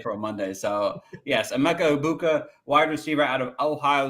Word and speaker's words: Emeka Egbuka: Uh Amecha Ibuka, right?